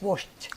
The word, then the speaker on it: washed: are pronounced sh sound so when we add Ed it's pronounced T it's washed washed thank you very